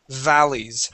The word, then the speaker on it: valleys: At the very beginning of your reading, when you came to the word valleys, you pronounced that with a B sound, saying valleys. All right.